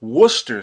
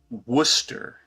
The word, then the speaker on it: Worcester: Yeah, we pronounce everything too, but they pronounce it Worcester, like just Worcester.